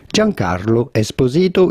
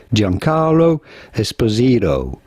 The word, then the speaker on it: Giancarlo Esposito: We are looking at how to pronounce with a typical Italian pronunciation, Giancarlo Esposito. Giancarlo Esposito is how it would be said in Italian. However, in American, it is generally said Giancarlo Esposito.